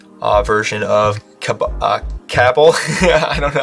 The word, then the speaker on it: Cabal: Now we're going to make sure we also have the correct version of Cabal. I don't know how to say it. Sorry, I keep always saying COBOL.